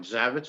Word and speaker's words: Zavecz: ahead and pronounce it oh that's that's fine zavit is just fine Zex well Welcome to